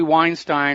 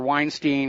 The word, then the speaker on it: Weinstein: But there's a real interesting question about what's going on with Harvey Weinstein or Weinstein. I've heard it pronounced both ways now.